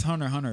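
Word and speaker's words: Hunter × Hunter: It is Hunter x Hunter though. You don't pronounce the X.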